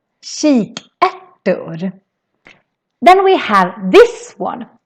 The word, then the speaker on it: kikärtor: So it's sh sound in the beginning and then a k sound in the end. So that's why it's called kikärtor. Kikärtor.